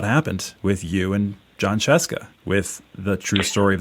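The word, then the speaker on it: Scieszka: But that's more or less how it happened with you and John Sheska with the true story of the 3 little pigs. First off, kudos for pronouncing Sheska correctly.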